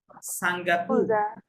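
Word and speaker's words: Singapour: যেমন যেমন দেখেন, এই যে দেখেন, এটা কুবা, সিঙ্গাপুর, নামগুলো শুনে নেন যাতে মনে থাকে।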